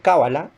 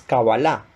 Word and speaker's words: Kabaláh: Eh, la palabra generalmente ustedes lo van a encontrar como Kabbalah, pero la pronunciación más acertada, teniendo en cuenta el término en hebreo, es Kabbalah, con tilde al final, ¿verdad?